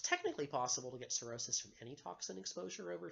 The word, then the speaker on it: cirrhosis: this problem of course as cirrhosis see i RR h o sis it's got a weird spelling blip silent H in the middle CI RR h o